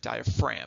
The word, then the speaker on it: diaphragm: as well and yes it is spelled a little funky it's got that silent G in there diaphragm is how you say it so let's move